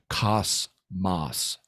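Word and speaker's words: κόσμος: in by the way notice I'm pronouncing it the Greek way cos Mas not Cosmos that's that's an English pronunciation um but this is a Greek word so I try to pronounce it Greek when I'm talking about the Greek so um it it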